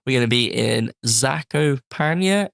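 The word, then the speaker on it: Zakopane: going to be in zako paa in Poland that's how you pronounce it in May I think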